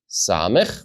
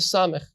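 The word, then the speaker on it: ס: Well, as you look at these two letters, on the right side you will see samech, which we pronounced sa, and on the left side we have the final form of the letter mem, which we pronounced ma.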